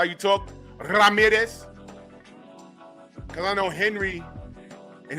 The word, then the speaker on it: Ramirez: You gotta roll the Ramirez. Ramirez.